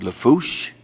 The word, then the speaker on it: Lafourche: the parish president and of course for uh pronounce Lafourche yeah thank you very much I've worked on